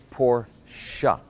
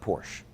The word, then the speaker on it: Porsche: now while we're on the subject it's actually pronounced Porsche up say it after me poor siya it's not Porsche there you go this pronunciation lessons been brought